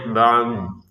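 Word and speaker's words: بعد: Dan kata ba'd ini perhatikan ada huruf ain kemudian dod. Maka dua-duanya harus kita baca ya. Jangan hanya kita baca ain saja. Baah kan ada dnya. Jadi cara bacanya ba'd. Ba'd gitu. Ini dot-nya kita ucapkan huruf tanpa ada harakatnya.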